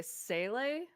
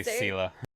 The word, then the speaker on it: Sele: You're going to hear me say Sele, like constantly. Yeah, that's how I pronounce it too. See, I say Sela. So Sele is how her name was pronounced in Honkai Impact 3rd, and I am having